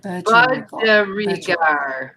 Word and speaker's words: budgerigar: Budgergard. Oh, I see, Sonia. There's an I there somewhere. Budgergard. Budgergard. Budgergard. Budgergard. MawMaw says Budgerigar. Yeah, Budgergard. Budgerigar. Budgergard, we go.